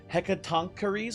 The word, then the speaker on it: Hecatoncheire: I googled actually how to say its name before this. Hecatonaries, I believe, is how you say the weird hand guy's name.